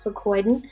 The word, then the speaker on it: fucoidan: our number one product it's pronounced for codon the actual rail ingredient is fu CE o I da n but you can't patent